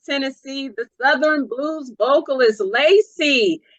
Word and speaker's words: LACEE: I'm here with the powerhouse of Memphis, Tennessee, the Southern blues vocalist, LACEE. Am I pronouncing your name correctly? Yes, ma'am, LACEE. That is it.